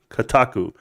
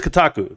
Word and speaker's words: Kotaku: just call it K is it KATU I don't know how to say it K Kaka Kaku kataku kataku I think it's Kotaku there we go so Kotaku is the